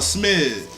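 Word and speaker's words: Smizz: Like you get all they basically saying it wrong. The drink is called a smidge. S-M-I-Z-Z. When you get toe off of it, it's called you smidge.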